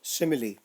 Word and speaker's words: simile: This figure of speech is pronounced as simile.